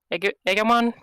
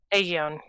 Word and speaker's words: Aegon: Samuel, what do you know about, and I'm going to horribly pronounce the name, Egamon? Is that a Digimon or a Pokemon? Aegion. Aegon.